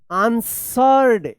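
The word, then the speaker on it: answered: Thought पढ़ेंगे फॉर अ few minutes and आंसर्ड। यहां पे डब्ल्यू जो है ना साइलेंट है।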